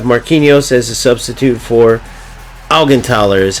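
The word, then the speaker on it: Augenthaler: And then I have Marinos as a substitute for Algentaler is how you pronounce it.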